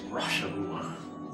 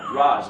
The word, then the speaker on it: Ra's al Ghul: And there are people who go, you will be the next Rosh al Ghul. No, Ra's, dude. Yeah. You're the guy who is Ra's al Ghul. You're saying the name wrong.